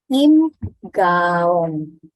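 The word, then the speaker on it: 임가온: Nah, teman-teman, nih jangan terkecoh dengan alfabetnya ya. Di alfabet tulisannya Lim. Kalau di Hangul tulisannya Im. Jadi teman-teman ikuti cara baca sesuai dengan tulisan Hangulnya. Im Gaon.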